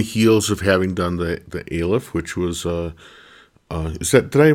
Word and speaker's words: Aleph: I pronounce it Aleph, and that's kind of what we've always said. And I think Aleph, like really an I, is proper.